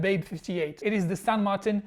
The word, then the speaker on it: San Martin: I did it I finally got myself a San Martin yes I decided it should be pronounced in Spanish Let's R the unboxing